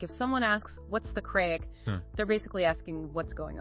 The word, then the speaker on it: craic: It's spelled C-R-A-I-C, but it's pronounced craic.